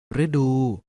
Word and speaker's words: ฤดู: ให้ ถูก ต้อง แต่ ฤดู ฤดู ออก เสียง ว่า ฤดู ดาว ฤกษ์ ออก เสียง